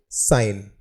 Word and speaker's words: sign: Our next word is साइन, SIGN। यहाँ पर जो है G वो साइलेंट है और इस वर्ड का जो अर्थ होता है वह संकेत या निशानी होता है।